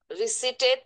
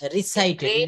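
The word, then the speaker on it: recited: রিসিটেড। রিসাইটেড। উচ্চারণ হবে রিসাইটেড।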